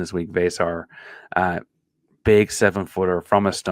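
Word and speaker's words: Veesaar: best bench big there in Arizona is Henry vasar was correct on that pronunciation this week vasar uh big seven-footer from a and I don't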